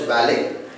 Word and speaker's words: valet: Coming to the 18th one, V-A-L-E-T, valet, it should be pronounced as valet.